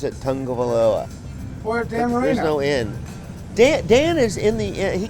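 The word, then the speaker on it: Tagovailoa: there's no inn in his name but they pronounce it tango veloa dan is in the he comes in every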